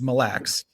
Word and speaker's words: Mille: It's Mille.